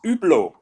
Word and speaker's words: Hublot: blow no no it's it's not with an H it's it's Hublot yeah with a u